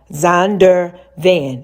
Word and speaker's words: Zondervan: ZON, like Zon, DER, Zonder Van, VAN. ZONDERVAN, Zondervan.